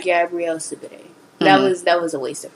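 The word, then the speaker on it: Gabourey Sidibe: Gabrielle Sidibe. Gabrielle Sidibe.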